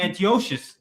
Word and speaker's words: Antiochus: King Antiochus. King Antiochus. King Salakia. Moreover, King Antiochus. Yeah, that's how his name is pronounced.